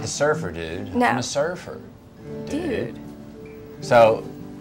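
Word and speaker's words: Surfer, Dude: that's a great question not surfer dude like a guy no you gave it the comma yeah cuz the comma has to have a purpose respect the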